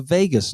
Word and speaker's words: vagus: is something called the vagus nerve. Now that's spelled Vagus, not Veg. Okay, it's not that Vegas; it's another Vegas.